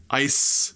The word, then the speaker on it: ice: is with an S ice with the C e we know that C E is always gonna be an S sound but can you pronounce